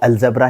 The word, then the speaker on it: Al-Zebra: बना देते हैं अलजेब्रा तो अलजेब्रा ही इसको हम प्रोनाउंस करते हुए चलेंगे कॉमिक्स कैसी है आर्टवर्क